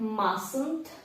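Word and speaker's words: mustn't: Must змінюватися не буде Маст над скорочується як масунд буква T тут ось ця не читається також Must ми вживаємо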